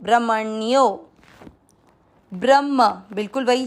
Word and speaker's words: ब्रह्म: पहला चरण ब्र। ब्र का अर्थ होता है ब आधा और र पूरा। इसके बाद में है ह आधा और ह के अंदर है म पूरा। ब्रह्म, म के साथ आधा अण तो ब्रह्मण यो, ब्रह्मण्यो।